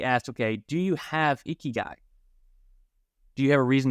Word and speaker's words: Ikigai: The kind of closest thing they have to this idea of retirement is this word pronounced Ikigai.